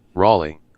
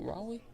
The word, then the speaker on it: Raleigh: Raleigh. Riley. That's what That's how you say it. Raleigh.